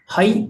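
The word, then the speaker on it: はい: हे नहीं लिखा, हाई लिखा है, हा ई, हाई, हाई, यस।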